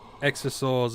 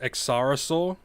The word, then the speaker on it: Exarosaur: i know it's pronounced accarasaur i think the reason why i say exosaur is just because i don't know lazy australian brain uh i know it's x cyrosaur but i don't know